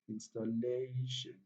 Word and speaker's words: installation: Yes, just count two syllable backwards when the word ends with TION. One, two. Yes, installation. Very simple.